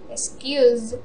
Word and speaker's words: excused: copied, described, disagreed, enjoyed, excused, followed, fried, happened, lived, moved, pulled. There are exceptions like excuse and closed. The sound, the last sound is S, but the pronunciation we make it like D.